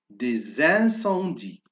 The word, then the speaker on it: des incendies: Des incendies. Alors, je fais la liaison et je prononce S, Z.